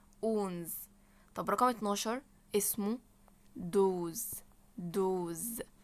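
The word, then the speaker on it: douze: طب رقم 12 اسمه دوز دوز نفس الكلام بتضم بقك وتقول دوز رقم 13 اسمه يز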